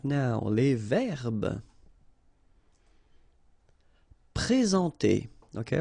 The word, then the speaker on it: présenter: Okay, remember when we get this accent aigu like that on the top of sorry, then you should pronounce it e. All right, and then you combine the two en nasal en.